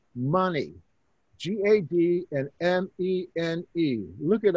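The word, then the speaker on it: Mene: M-E-N-E, pronounced money.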